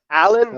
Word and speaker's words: Alin: buddy aylin allen allen he's romanian so i think it's pronounced aline it's allen but it's spelled a-l-i-n listen my do you